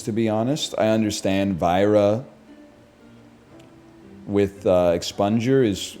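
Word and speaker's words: Vajra: It's actually pronounced Vera.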